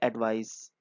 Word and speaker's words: advice: यहाँ पे देखिए इसके प्रोनाउंसिएशन में भी फर्क है। जो एडवाइस है, सलाह, गाइडेंस, वो उसको हम बोलेंगे एडवाइस। और जहाँ पे नीचे वाला दिया है वो है एडवाइज, क्योंकि यहाँ पे SE है।